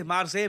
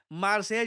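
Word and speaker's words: Marseille: है बाय द वे ये जो स्पेलिंग है देखकर कुछ लोग इसको मार्सेली या कुछ और प्रोनाउंस कर रहे हैं इट इज प्रोनाउंसड मार्से और रिसेंटली पीएम मोदी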